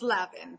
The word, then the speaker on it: Lavin: of your last name is it Le or Lavin it's Lavin thank you okay all